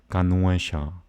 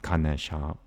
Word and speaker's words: Ganesha: The word Ganuesha, Ganuesha, Ganuesha, Ganuesha, that's the elephant god, not Ganesha. Ganesha is not even a word, as far as I know.